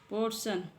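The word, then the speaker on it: portion: ये मैं सब इसके आपको हिंदी में भी प्रोनाउंस कराने वाली हूं इसे और देखते हैं एग्जांपल पोर्शन पोर्शन मीस होता है भाग पोर्शन मींस होता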